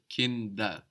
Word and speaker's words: Kinder: the plural, and also that D is softening again, becoming like a D again rather than a T, because it's not at the end of the syllable anymore. It's starting a new syllable, Kinder, rather than Kind.